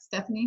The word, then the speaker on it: Stephanie: Stephanie, is that how I pronounce it?